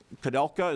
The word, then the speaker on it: Kudelka: Okay, Commissioner Kudelka, is that the way I pronounce it? Correct. Thank you, sir. Mr. Chair and committee members, thank you for having us. My name is Kudelka.